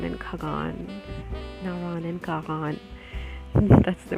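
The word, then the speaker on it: Kaghan: When we were younger, our parents used to take us to Naran and Kagan, that's the right way to say it, in our summer holidays.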